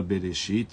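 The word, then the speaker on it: Bereshit: valor numérico de um quando ela aparece no nome da pessoa muitas vezes ela não é pronunciada tá como na palavra berechit No início Deus criou o mundo lá se escreve B3 alf a letra Alef ela não é pronunciada porque Deus ele se encontra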